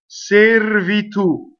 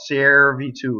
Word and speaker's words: servitù: The E is in an unstressed position and it is a servitù. Okay, so the R will roll. The most common mistake in this word is that it rhymes with chair, the first vowel. Servitù, right?